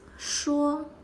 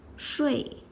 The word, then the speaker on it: 说: 说 shuō this is a polyphone, it is pronounced as shuō or shuì 说 shuō to speak,